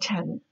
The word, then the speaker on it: tenant: advice you're a good tenant I think you should talk to your landlord actually I didn't pronounce that correctly the word is tenant and the first time I did not push out the